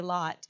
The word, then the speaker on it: Lot: What we would always say Lot, but in the Hebrew it's pronounced Lot. Lot, yeah.